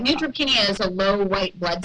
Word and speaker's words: neutropenia: but you'll correct me you said it right neutropenia is a low white blood cell count okay